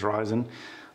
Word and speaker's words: Ryzen: some guy say it's risen Sometimes some guy says ryzen I'll just go with